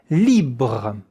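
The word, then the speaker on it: libre: Once again, the e at the end is not pronounced. Check out now the pronunciation in the phonetical alphabet. Libra li with the French R.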